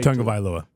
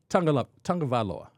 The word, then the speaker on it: Tagovailoa: We're going to say Tagovailoa. Tagovailoa.